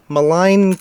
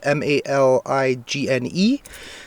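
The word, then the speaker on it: Maligne: And it's like, this is the number one, Malign Canyon. I believe that's how you pronounce it. It's M-A-L-I-G-N-E. So it's either Malign or Malign or Malign.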